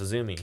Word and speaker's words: AZM: Apparently AZM, which I thought her name was, is pronounced Azumi.